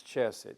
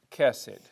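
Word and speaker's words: חסד: it this way but it's not pronounce chessed Hebrew doesn't have a CH sound like church it's cassid usually it's put this way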